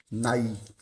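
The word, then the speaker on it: ναί: palavra sim né que a palavra afirmativa ela é Nair não pensa que aí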